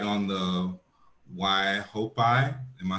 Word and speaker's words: Waihopai: Yeah, the vineyard, you know, is right on the Waihopai. Am I saying it right, Andrea? Yep, Waihopai River.